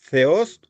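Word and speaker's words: θεός: Theos, U. Dios. ¿Se dan cuenta? Teos, acento en la O, inmediatamente acento circunflejo en la vocal upsilon, o la U nuestra.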